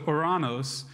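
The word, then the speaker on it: οὐρανός: opening for me and it's spelled o o u r a n o s so oranos and so uh we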